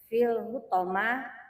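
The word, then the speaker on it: الْحُطَمَةِ: Fil hutama alif lam qamariah. Kenapa? Karena ada lam sukun. Oke. Al-nya dibaca jelas karena lamnya sukun.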